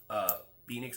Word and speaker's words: Penix: try to get Michael Penix. I don't want to say his name wrong. I Penix. said Penix. I'm saying penis the whole time, but that's wrong. That's not right.